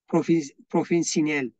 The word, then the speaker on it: profesyonel: Bölge dünyanın farklı ülkelerinden profesyonel, that's mean professional, but here with another pronunciation, profesyonel.